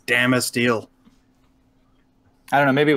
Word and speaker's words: Damasteel: It's Damasteel. I don't know. Maybe it would be better in person. It's a Swedish product. They definitely don't do a short A sound.